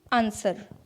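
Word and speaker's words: answer: इसमें भी कुछ कॉमन रैंडम वर्ड्स हैं, मतलब जिनमें कोई रूल नहीं है लेकिन W साइलेंट रहता है, जैसे कि आंसर, इसे आंसर नहीं कहेंगे, आंसर।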